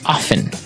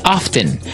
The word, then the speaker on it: often: people like to pronounce often right they kind of leave out the strong T sound while other people say often both forms are correct